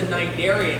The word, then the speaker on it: cnidarian: They're what's known as a cnidarian, and that's cnidarian spelled with a C.